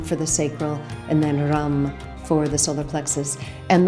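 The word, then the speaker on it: ram: That's r a m pronounced with a a short a like uh so rum. Uh that is the seed syllable for the solar plexus.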